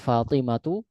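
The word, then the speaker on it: فاطمة: Dan kata Fatimah, Ruqayyah, dan Zainab ini semuanya gak ditanwin ya. Jadi penulisannya Fatimatu, Ruqayyatu sama Zainabu.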